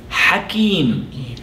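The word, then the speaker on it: حكيم: The next word that I would like to cover, which rhymes with Alim, is the word Hakim.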